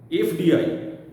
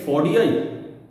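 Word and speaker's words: FDI: এই যে এফডিআই, এফডিআই, তাহলে এটা কি ফডিআই? এফডি, ফডি? নো, এফডিআই, এফডি। তাহলে আগে এ পরে ফ, আগে এ পরে ফ, তাহলে ভাওয়েলটা ওটাকে আগে চলে আসছে সাউন্ডটা, কনসোনেন্ট তার অরিজিনাল সাউন্ডটা পরে চলে যাচ্ছে, প্রায়োরিটি পাচ্ছে ভাওয়েলের সাউন্ডটা।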